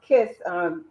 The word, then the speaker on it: KYS: It's Ms. KYS for the initials of my name. And it's Okay. pronounced Kiss.